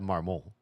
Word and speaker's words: Marmont: He said Marmont, which is, you know, the way you would pronounce it in French.